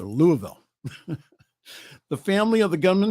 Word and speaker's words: Louisville: Louisville shooting it's not Lewisville it's Louisville got to pronounce it all together Louisville the family of the